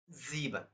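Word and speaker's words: sieben: according to last rule that s pronounce as Z that is zean zeban so zeban means in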